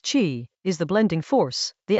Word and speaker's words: qi: The vital breath, Chi, pronounced Chee, is the blending force, the active mixing of these poles that produces a living balance.